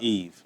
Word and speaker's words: Yves: So, yeah, but just Yves. I tell people all the time, the S is silent, Yeah. Yves.